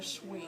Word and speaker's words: Sui: Actually, Mr. Lorenz, it's pronounced a sweet.